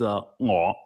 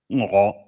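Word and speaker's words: 我: Mhm, And so in Chinese, the way you say I or me is in Cantonese is ngo, ngo. It's like a really kind of deep throat type of ngo.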